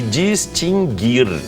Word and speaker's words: distinguir: Adquirir, extinguir e distinguir. O U não é pronunciado. Não é extinguir, não é extinguir.